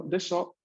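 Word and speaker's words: でしょ: vamos a ver que el desho no se pronuncia tanto desho, sino desho con una O corta al final.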